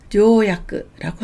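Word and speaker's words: 条約: 음독은 조라고 읽습니다. 조건을 조갱이라고 하고요. 조약을 조야크라고 합니다.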